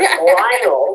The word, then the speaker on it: Lionel: And there's Lionel, which rhymes with vinyl.